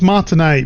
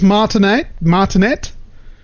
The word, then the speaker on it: Martinet: So, as we all know, Charles Martinet, I always thought it was Martinet, but I'm pretty sure he pronounces the T.